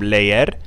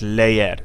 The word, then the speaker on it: leer: goes here the verb leer it's not Le like in English it's leer two syllables then we have the